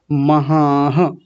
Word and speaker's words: पितामहाः: पितामहाः, महा इतना करके नहीं छोड़ना, महा। विसर्ग को भी साथ में लेंगे, हा जैसा उच्चारण आएगा, क्योंकि आधा तो इसका होता ही है, आधा ह जैसा उच्चारण, और आ के साथ मिल करके हो जाएगा महाह, ऐसा।